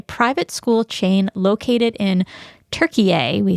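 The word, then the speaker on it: Türkiye: Listen, we say Turkey because it is more closely the way the Turks pronounce their country name, and they wanted to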